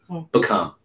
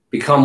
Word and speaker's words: become: Become. Become what? Become. Actually, you want to pronounce the E in become.